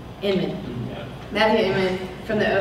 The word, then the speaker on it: Inman: When Matthew Ennis, I can never say it right. From the oatmeal, Inman.